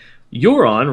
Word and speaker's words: Euron: It's funny because Euron rhymes with moron, and there's no reason for that, I'm sure.